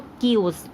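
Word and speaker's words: chaos: definition second world है किया की स्पेलिंग मैंने आपको बोला था की थोड़ी सी अलग होती है बट इसको हम प्रोनाउंस अलग करते हैं तो किओस एंड थर्ड है वेल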